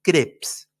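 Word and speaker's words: Krebs: es el llamado ciclo de creps creps que se escribe K r e b larga s crebs el nombre de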